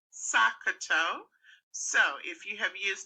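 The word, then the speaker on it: SOHCAHTOA: using this is to take each letter in bold so the first letter of each word in the sentence and pronouncing it as a word that word would be pronounced sakato so if you have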